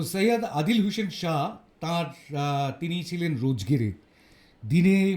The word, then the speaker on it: সৈয়দ আদিল হোসেন শাহ: যার কথা আগে বলছিলাম সে উচ্চারণ করা হয় সেখানে আমরা বলব শাহ তো সৈয়দ আদিল হোসেন শাহ তার তিনি ছিলেন রোজগিরি দিনে মোটামুটিভাবে 300 টাকা রোজগার করতেন ঘোড়া ভাড়া দিয়ে পর্যটকদের।